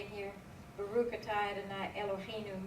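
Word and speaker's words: אֱלֹהֵינוּ: Baruch atah Adonai Elohim It's Eloheinu. Eloheinu.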